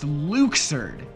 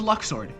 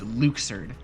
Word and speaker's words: Luxord: loud, and they decided that it would be pronounced Luxord without telling us. I thought it was Luxord.